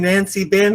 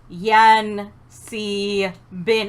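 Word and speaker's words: Yan-C-Bin: No, they said you were worshiping Nancy Bin or something. Yan Si Bin. It's not that hard. It's 3 syllables.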